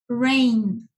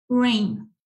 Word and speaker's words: rain: Entonces, siempre que encontremos A, I juntas, se pronuncia E-I, como rain, R-E-I-N, rain.